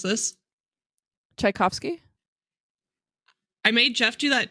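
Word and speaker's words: Tchaikovsky: goddaughter I'm going to highlight this can you pronounce this chaikovsky I made Jeff do that too and both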